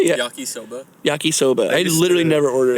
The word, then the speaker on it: yakisoba: And it And it literally was just like Yakasobi with ketchup on it. Like old Yakasoba. I think I said I know. I mixed like Soie the drink. I think you said yakisobi. Yakisoba.